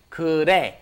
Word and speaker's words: 그래: It's 그래. 그래. It's almost a D sound, isn't it?